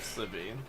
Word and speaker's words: Slivy: Pronounce like you would Slither, and you should get it right. Oh, Slivy, my bad. Slivy.